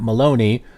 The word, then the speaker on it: Maloney: So yeah, GrubHub CEO Matt Maloney, which kind of rhymes with baloney, said in a letter